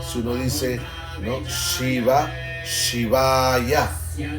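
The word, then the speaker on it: शिवाय: Shiva, Shivaya, una doble A. Entonces podemos cantar Om Namo Shivaya. Aquí podemos ver que la A más larga es usada en este mantra para adorar.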